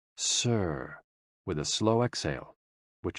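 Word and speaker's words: 呬: SI, pronounced like sir, with a slow exhale, which is associated with the lungs.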